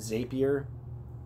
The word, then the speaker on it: Zapier: za p IE or some people pronounce it xaviar but they call them zaps so I'm assuming zapier it's kind of like